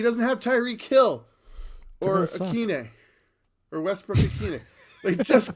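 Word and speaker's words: Westbrook-Ikhine: I'm not sure how to pronounce the Nick Westbrook Akine. Akine.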